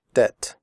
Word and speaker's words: debt: silent we do not say depth we say debt comfortable the word comfortable has three syllables not four the or is silent we